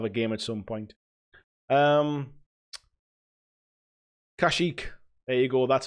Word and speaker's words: Kashyyyk: and we'll have a game at some point Kashyyyk a go that's how you pronounce it Nashik thanks Jamie Adam says black